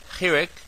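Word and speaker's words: חיריק: Those are pronounced as follows. Kametz is O, Patach is A, Segol is A, Tzerei is A, Chirik is E, Shurik is U, and Cholim is O.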